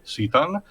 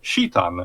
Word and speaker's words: Citan: You can mention this also in the traditional English way, Citan, but also in a way that the proper correct way in Japanese also is Shitan.